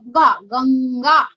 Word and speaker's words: गंगा: तो उसका प्रोनाउंसिएशन ग उंग गा, गंगा।